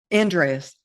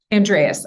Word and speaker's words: Andreas: last name just so i don't butcher it andreas andreas okay andreas yeah i'm excited to have